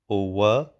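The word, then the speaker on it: اووه: Then we have owe. Owe again with a schwa sound at the end.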